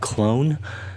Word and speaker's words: Qlone: going to use an app called clone that's spelled q-l-o-n-e to do a scan